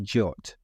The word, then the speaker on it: JWT: next time we'll see work with Clerk this is what we'll cover we'll introduce Jason Webb tokens abbreviated as JWT but pronounced jot I'll show examples of